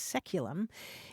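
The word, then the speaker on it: saeculum: c u luu m which in English is pronounced seculum it's traditionally understood to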